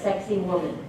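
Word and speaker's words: Sacsayhuamán: do that okay okay this is a place called saqsaywaman and our guy would always pronounced it as sexy woman but this is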